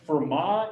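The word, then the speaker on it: Fermat: don't know french uh you basically don't pronounce the back half of words so this is for ma not vermont um he was a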